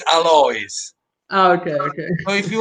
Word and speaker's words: Alois: it used to be alois because it's a french family but in italy it's alloys okay okay so if